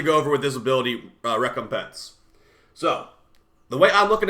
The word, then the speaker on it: Recompense: And that's actually how you say that. I looked it up. I almost said Recompense. I didn't even know what to say. Recompense is how you say this.